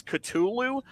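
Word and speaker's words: Cthulhu: ask him well to ask Lovecraft how do I pronounce this katulu Sulu and he said basically it's katulu but it's a it's the closest we can get to pronouncing his name but we can't pronounce it properly because our vocal cords aren't uh right right kind so the way that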